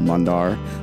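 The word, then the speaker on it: Mandaar: And my name is spelled M-A-N-D-A-A-R, Mundar.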